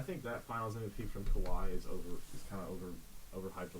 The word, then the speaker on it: Kawhi: Battle LA Clippers, but Kawhi won't win it because he is playing 3/4 the games. He's managing his load. Don't say it like that. Kawhi. So Kawhi Leonard, I don't.